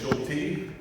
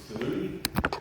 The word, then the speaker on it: Schulte: It is Shulty. Uh many people when they see that name for the first time, they say Saludi uh or Juicy or Shely like the dog.